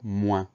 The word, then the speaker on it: moins: C'est le mot moins, une seule syllabe. Alors attention, le son ouin s'écrit O-I-N.